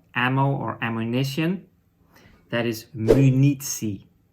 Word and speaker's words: munitie: That is munitie. So the first two letters, mu. So it is the M and the U is pronounced mu.